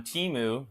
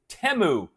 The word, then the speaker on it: Temu: out teu I've ordered so much stuff on Teemu these glasses came from Teemu um doesn't get